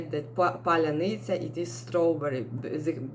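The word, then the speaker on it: паляниця: modern words and they do not uh tell pronounce it correctly so palanita it was like a czech world uh for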